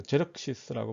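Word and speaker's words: Xerxes: 이 사람이 원래는 이제 그리스의 자료는 크세르크세스 1세, 영어로는 이걸 또 제럭시스라고 발음을 해요. 우리말은 크세르크세스인데 영어로는 제럭시스.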